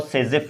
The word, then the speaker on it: Zaitsev: नाउ अब हम बात करेंगे अपने एक अलग नया टॉपिक्स जिसका नाम है जेसेफ रूल। जेसेफ रूल और सेजेफ रूल भी बोल सकते हैं उसको, ओके।